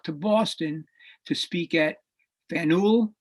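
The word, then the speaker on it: Faneuil: boston to speak at fennel with the pronunciation okay fennel hall and uh he uh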